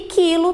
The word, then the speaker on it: quilo: E quilo, também o U não está sendo pronunciado, está acompanhado pelo I.